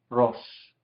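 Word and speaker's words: ראש: En este caso, vemos que la Aleph es inactiva, ¿sí? Porque no tiene una vocal, ni abajo aquí, ni arriba aquí. Este es el puntito de la Shin. Entonces es una sílaba, Rosh.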